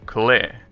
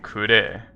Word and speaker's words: Klee: very weird for example klee which is this character apparently in japanese is pronounced clay well technically kure but i mean i